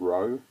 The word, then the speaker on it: rho: is the symbol row Greek letter rho is how it's spelled but it's said row like row your boat but without the emphasis on the W like row not row anyway uh row is